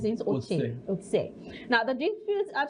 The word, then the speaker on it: Otse: How do you pronounce Vincent? Otse.